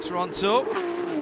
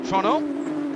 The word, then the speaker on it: Toronto: with it being a street circuit here at Toronto, or Toronto, as the locals have told me it's got to be pronounced.